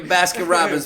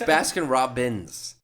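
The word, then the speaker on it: Baskin-Robbins: Briar all right your basket Robins 41 flavors let me tell you you basket Robinson's like Robinson's basket Robinson's is that how you say it it's Baskin Robins Basin Robinson's that's his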